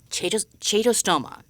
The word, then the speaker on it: Chaetostoma: Chaetostoma. As far as I know, that is how you say it.